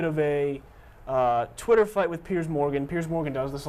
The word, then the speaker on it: Piers Morgan: That would be CNN's Piers Morgan, or as some people still call him, Pierce Morgan.